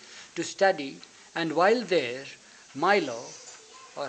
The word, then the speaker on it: Milo: One of his proteges was Milo Shattuck, a Harvard graduate and a young poet. Watson helped finance his trip to England to study, and while there, Milo, or how do you pronounce it, Milo, M-I-L-O, Milo.